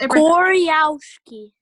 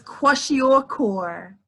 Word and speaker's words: kwashiorkor: Koryawski. Very close. That's the only way I know how to say it. It was very, very close. Okay. It was kwashiorkor.